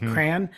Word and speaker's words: crayon: one of the odds a lot of people do apparently say crayon as in like cranberry like crayon but I'm saying the way I pronounce it is Crown like but but see that's like what you'd wear on your head it's it's it's CRA as opposed to cro so but I think